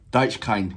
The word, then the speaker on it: Deichkind: If you don't know who, let me just make sure that I'm pronouncing the name right. Deichkind.